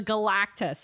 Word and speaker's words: Galactus: The Galactus. It's exactly how you think it is.